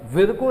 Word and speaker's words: Virchow: Rudolf विर्को, VIRCHOW, है ना, कुछ लोग विर्चो पढ़ते हैं बट विर्को इज the correct pronunciation.